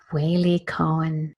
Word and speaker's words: Waley-Cohen: do you say your last name Harriet waily waily cohan that was not a very professional way of introducing my guests but here we have her Harriet Valley cohan welcome to the chasers podcast where we can